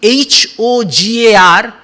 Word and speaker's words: hogar: ogre spiritual destroy ramakrishna ogar actually it is h-o-g-a-r hogar we will say but in spanish h is silent so ogar what does ogre means ogre